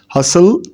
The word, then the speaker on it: hustle: Rural the or Sheri hustle and b t t is silent in both words CH pale luxury and